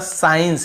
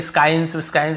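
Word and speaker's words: science: गया था यहां पे देखिए साइंस हम केवल एस के बाद साइंस ऐसे पढ़ रहे हैं एस को यहां पर skyscans ऐसे नहीं पढ़ते हैं यहां पर भी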